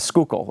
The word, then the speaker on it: Schuylkill: First of all, way to pronounce Schuylkill correctly. I can tell you from around here, because that word does not look like it's spelled or sound like it's spelled. Yeah, I decided when I